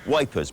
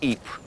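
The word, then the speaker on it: Ypres: called the wipers times wipers being how british troops mispronounced eep this was a newspaper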